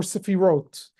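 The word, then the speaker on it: sefirot: the end is uh there's an s or a t but it's the same word you have a question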